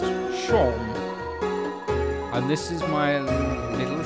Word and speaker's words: Seam: The name's Seam, pronounced Shawm.